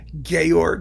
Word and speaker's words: Georg: All of a sudden, everyone had to know that it was Georg and not George, or George Zell, Georg Zell.